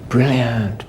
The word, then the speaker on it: brilliant: say it okay stress where's the stress one or two two brilliant no stress one or two yeah two syllables brilant the brilliant one so listen brilliant brilliant speak so we